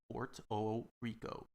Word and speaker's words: Puerto Rico: it's not wrong but we uh the puerto rican people do not pronounce uh pronouns uh the u and the e we pronounce it with an o so it's puerto rico